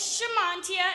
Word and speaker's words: Shamantia: form bear with me sha as in shut your mouth mon as in Jamaican mon and tia as in Tia and Tamara thank you thank you